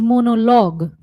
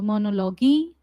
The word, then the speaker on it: monologue: Pronunciation, it is monologue. Monologue, not monologi or monology.